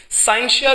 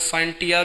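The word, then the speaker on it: scientia: साइंशिया भी somehow इसको pronounce किया जाता है, और समहाउ इसको लोग साइंटिया भी कहते हैं।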